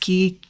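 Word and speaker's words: Kei: I think it's pronounced Key, K-E-I.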